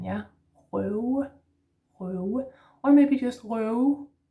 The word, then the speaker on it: røve: Last word is røve. Røve. R in the throat, slashed O, broken O, and then this w sound again, yeah? Røve, røve, or maybe just røve, røve.